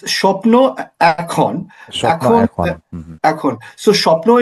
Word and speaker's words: Shapno Ekhon: Yeah, it's Shapno Ekhon.